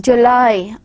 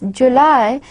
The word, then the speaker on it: July: When you speak, when you pronounce this July, there should be a clear presence of gliding from one vowel to another.